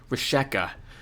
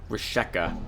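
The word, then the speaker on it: Vrischika: I'm going to leave the V silent here and call her Risheka. Rishika?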